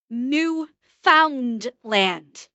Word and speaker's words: Newfoundland: Okay, it it is it is spelled New Foundland. N E W F O U N D L A N D.